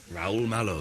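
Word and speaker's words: Raúl Malo: that's rul oh yeah m a l o rul mow that's an anagram of something okay let's um rul mow homepage I've just read that Danny Baker had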